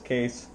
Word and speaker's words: Kees: The name is Kees, Kilowatt, Echo is Sierra, pronounced as Kees.